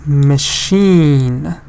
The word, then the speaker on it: machine: But this one is different. Because why? Because it's machine.